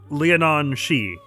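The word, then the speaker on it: Leanan Sidhe: Roughly pronounced Leonon She.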